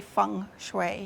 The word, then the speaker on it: feng shui: I often say to people, I don't care how you pronounce it, but I always say Feng Shui.